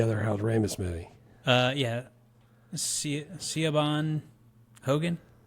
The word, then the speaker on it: Siobhan: I don't know how you pronounce that name. Siobhan. Ooh. I think maybe they just dropped the keyboard when they went to go type her name in. It's Irish, you Irish jackass.